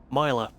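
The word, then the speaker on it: Mylar: How's it pronounced? Mila.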